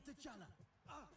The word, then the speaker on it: T'Challa: Say T'Challa.